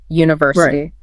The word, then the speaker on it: university: Those ending in in like university. The stress tends to land on the third syllable from the end.